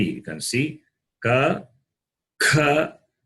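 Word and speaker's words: क: Number 3, you can see ka, kha, ga, gha, na. Ka, kha, ga, gha, na. I will pronounce again in detail.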